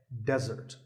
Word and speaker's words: desert: of a meal and it should not be confused with desert here the stress is on the first syllable which is de desert now i said that